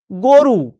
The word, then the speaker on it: গরু: শেষ বল এর বাইরে কিছু এটা গরু। আমি লিখছি গ রস গরু। কিন্তু বাস্তবে আমি উচ্চারণ কি করছি? আমি উচ্চারণ করছি গো। রু এইভাবে তো উচ্চারণ করছি।